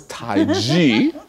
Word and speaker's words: Tai Chi: so for example in taiji and I pronounce it different than most people are used to hearing it because the Europeans wrote it Tai Chi because they couldn't hear this so it's taiji and and it just